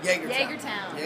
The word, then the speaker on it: Jagertown: Jagertown. Jager. Just like okay. Jägermeister.